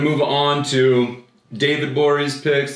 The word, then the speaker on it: Gborie: move on to david bourie's picks the g is silent on twitter are you